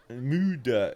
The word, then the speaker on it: myydä: Myydä. It's spelled M-Y-Y-D and then A with 2 dots on top of it, but it's pronounced myydä.